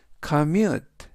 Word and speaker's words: commute: 이번 단어는 commute commute commute라고 발음하시면 되겠고요.